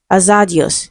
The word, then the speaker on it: hazardous: Okay, so it is stressed on the first syllable.